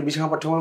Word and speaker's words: বিশাখাপট্টনম: যাওয়ার সময় প্রথমে পড়েছিল বিশাখাপট্টনম, বলছিলাম এই যে সেই জায়গাটা বিশাখা না, বিশখা না, আকার না, বিশাখা সংস্কৃত শব্দ, পাত্তানাম সব জায়গায় ম উচ্চারণ হয়।